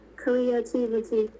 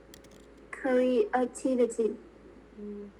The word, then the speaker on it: creativity: okay one more word creativity creativity curry activity not that creativity creativity creativity thank you